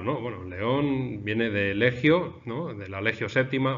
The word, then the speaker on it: legio: Bueno, pues en realidad lo que pasa es que en el latín clásico no se pronunciaba así, la G con la I se pronunciaba suave, legio, ¿eh?